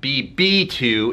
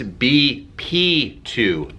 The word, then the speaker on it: BP2: i pronounced it wrong it's not bb2 it's bp2 blood pressure to connect